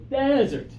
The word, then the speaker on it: desert: everybody one two 3 dessert good and now the dry place to the east of San Diego desert desert yeah strong first syllable strong second syllable and then some of